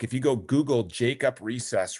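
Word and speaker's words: Reses: If you, that's how his name is pronounced, Recess.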